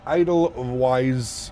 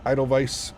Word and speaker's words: Edelweiss: Uh, Idle Wise. Idle Vice, that's how you pronounce it.